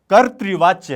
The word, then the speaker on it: कर्तृवाच्य: क है, अ है, र है, त है और इसमें री की मात्रा है, तो यह कर्तृवाच्य है। क्या है? कर्तृ। इस तरह से सही उच्चारण इसका करना है आपको, कर्तृ।